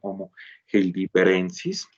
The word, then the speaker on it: Homo heidelbergensis: nosotros estamos hablando del homo heildibergensis cierto se pronuncia así de esa manera vemos pues la evidencia